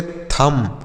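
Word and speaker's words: thumb: तो इसे क्या पढ़ेंगे इसे पढ़ेंगे थम इसे थंब नहीं थंब पढ़ना थम मतलब क्या होता है टी एच यू एम बी इसे थ पढ़ेंगे बी साइलेंट है इसे नहीं पढ़ा जाएगा य पढ़ेंगे थम थम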